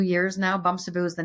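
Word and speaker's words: Bamsebu: how to pronounce it. I love Yeah, it. It sounds better when you say it. Okay. Bumsaboo, it means little Yeah.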